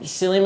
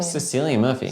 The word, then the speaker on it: Cillian: How do you say his name? Is it Cillian Murphy or Killian Murphy? The actor. Sicilian. Yeah. Cillian? Sicilian. Cillian Murphy. Sicilian. Where's the extra Oh, I thought it was Killian.